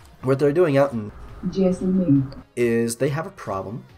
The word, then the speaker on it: Jaisalmer: It's Jaisalmer. How to pronounce Jaisalmer? Jaisalmer.